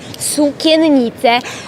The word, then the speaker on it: Sukiennice: The Kraków Cloth Hall, pronounced sukiennice.